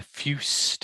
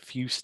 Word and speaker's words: Fuest: It's Robert Fuest, F-U-E-S-T. Yeah, Fust. I think, I'm not sure. I take a running jump at it as well. Robert Fust, I call it.